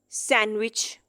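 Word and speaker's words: sandwich: क्योंकि डी के बाद जी लिखा हुआ है तो डी साइलेंट हो जाएगा। Pledge, सैंडविच, सैंडविच।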